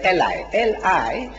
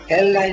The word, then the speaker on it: Eli: Not Eli. Eli. Eli, all right. Thank you. You see now, you pronouncing like a European. Yeah. I'm pronouncing like a Jew. Because I'm nearer to the Jew. I'm nearer to the Jew in my language. Arabic and Hebrew are sister languages. So I say Eli.